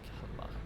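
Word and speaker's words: Kalmar: Not Calmar, it's Calmar. I know pronunciations are not gonna be easy for anyone who doesn't know how to pronounce it already.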